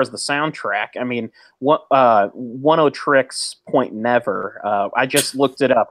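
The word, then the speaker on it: Oneohtrix Point Never: when you say 70s, as far as the soundtrack, I mean, One O Tricks Point Never. I just looked it up. It's One O Tricks. That's how you pronounce it.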